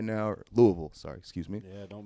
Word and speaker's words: Louisville: Actually, the more you say it, the more slur it gets. Like Yeah, it gets worse, right? From really people that are in Kentucky. It's like Louisville.